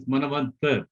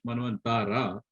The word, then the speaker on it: Manvantara: See, actually in Sanskrit it is Manavantar, although we call in English Manvantara. In Sanskrit we pronounce it Manavanta.